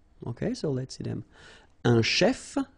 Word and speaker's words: chef: so let's see them Chef so remember C it will give you the sh sound a chef okay then a musician